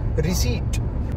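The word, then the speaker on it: receipt: नहीं तो मेरे से रिसिप्ट का पूछ रहा था ना, भाई रिसिप्ट बोलते ही एकदम लड़की छोड़ के चली जा डेट पे से, इट्स रिसीट रिसीट द पी is silent, जब साइलेंट है तो नहीं जो दिया क्यों है।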